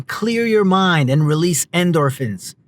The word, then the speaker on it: endorphins: Even a short walk can clear your mind and release endorphins. Endorphins? Endorphins. Nothing like putting the emphasis on the wrong syllable.